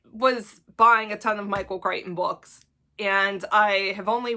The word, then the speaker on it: Michael Crichton: And the next one is Prey by Michael Crichton. Although, listen, I gotta say, I love the way that Emily Fox pronounces his name, which is Michel Crichton, because she speaks French.